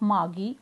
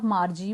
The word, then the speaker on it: Margie: Jones, mother of Margie or Margie, both the pronunciations are acceptable, that it was not the fault of Margie that she was performing bad in geography sector.